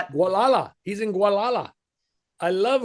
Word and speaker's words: Gualala: Uh and this is uh Richard and I don't know how to pronounce that. Gualala.